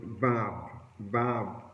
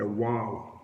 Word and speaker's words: vav: And look at the word there, the word and teach me there is the word vav, or sometimes it say wow, it may pronounce wow or vav.